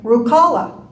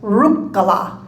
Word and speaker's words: Ruhkala: We grew up hearing everyone say Ruhkala. And all our life we had to correct that and say the Finnish pronunciation of last names, the first syllable is always stressed. So it's Ruhkala.